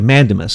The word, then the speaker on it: mandamus: Elections, a writ of, do you say mandamus? Is that how you say it? Yes. Okay, mandamus. I was saying it wrong, sorry.